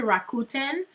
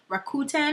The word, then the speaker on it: Rakuten: I think they just they rebranded to Rakuten Rakuten I think it's how you pronounce it but it still